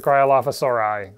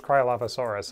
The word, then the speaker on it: Cryolophosaurus: nothing thank you for the cryolaphasaurai so no it's just kryolophosaurus if it's individual animals next this is from